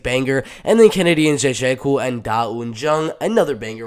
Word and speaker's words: Nzechukwu: I'm going to say it one more time, Nzechukwu. I think that's how you're supposed to pronounce it, but this is